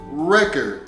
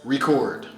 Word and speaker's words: record: it with the pronunciation record as In Those Old items that we used to listen to music on here the stress is on the first syllable of the word record however if we use